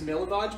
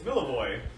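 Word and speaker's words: Milivoj: Prime and I said his name was milage what did you say it's miloy oh and I and I said oh is and you said yeah that's how that would be pronounced yeah so in one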